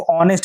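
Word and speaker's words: honest: वैसे तो यहां पे एस से स्टार्ट हुआ है। लेकिन पढ़ते क्या है? इसको ऑनेस्ट पढ़ते हैं। जब इसको ऑनेस्ट पढ़ते हैं तो जो साउंड शुरू में रिलीज हो रही है वो क्या हो रही है?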